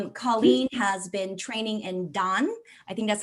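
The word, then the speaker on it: Dahn: Colleen has been training in Dan. I think that's how you say it, Dan? Hatha. Dahan yoga is Dahan, okay.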